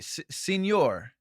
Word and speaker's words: Signor: Signor is Italian and pronounced the same as Spanish senor.